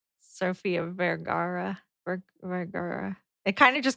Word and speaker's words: Vergara: Sofia Vergara.